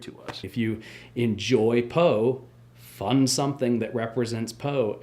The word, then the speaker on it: Poe: The important thing about Edgar Allan Poe that everyone should know is that Edgar Allan Poe rhymes with Moe, which is the amount of money that we need.